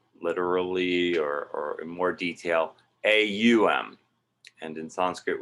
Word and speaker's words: AUM: And more literally or in more detail, AUM. And in Sanskrit, when you put an A and a U together, it becomes this O sound.